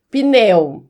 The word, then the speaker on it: pneu: no dia a dia aí, informalidade, na, na informalidade, gente, o correto é pneu, certo? Não tem o e aí não. Depois do do P.